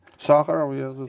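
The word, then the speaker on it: Sakharov: Pronounce it for me, Yuri. Sakurov, her first name though.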